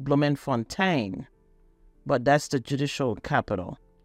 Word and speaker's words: Bloemfontein: Pretoria is for the executive, Cape Town for the legislature, and Bloemfontein, the judicial. It could also be pronounced Bloemfontein, but that's the judicial capital.